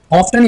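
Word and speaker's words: often: ठीक है, वो अक्सर अपनी दादी से मिलने जाता है, ही ऑफ्टन, ऑफ्टन या ऑफन दोनों में से आप कोई भी प्रोनाउंसिएशन का इस्तेमाल कर सकते हैं।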